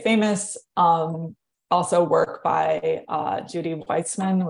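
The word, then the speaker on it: Wajcman: Also work by Judy Weitzman, which is spelled not how it sounds, has been foundational.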